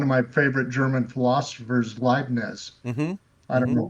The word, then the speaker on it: Leibniz: Actually, it was your German and one of my favorite German philosophers, Leibniz. Mm-hmm. I don't Mm-hmm. know if that's I pronouncing it right. Leibniz, yeah.